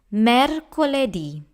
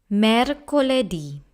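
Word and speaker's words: mercoledì: Eddie next we have murder quality this word has four syllables mer core lay D mer quality and now we have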